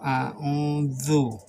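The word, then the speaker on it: أَعُوذُ: Zal itu a'udzu. Sedangkan itu zal itu cara membacanya makhraj biar memudahkan kita. Lidah digigit, keluarkan angin dari dalam. Zu. Sedangkan yang terjadi di kalangan masyarakat kadang-kadang ada za, seperti za. Zalika. Artinya za. Ini lihat lidah gigit.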